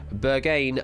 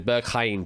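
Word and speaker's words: Berghain: capital city is the Bergen nightclub 10 seconds Berlin Amsterdam yeah it is yeah I think I mispronounced it again Burke Hein probably is the correct way of pronouncing it but you got it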